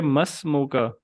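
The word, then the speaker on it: ما اسمك: इसमें अलिफ साइलेंट हो जाएगा। तो इसको पढ़ेंगे मस्मुका, मस्मुकल करीम।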